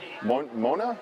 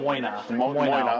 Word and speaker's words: Moyna: right, Kendall Powell, Robin, how do you pronounce that? Mona? Robin Moyna. Moyna, okay.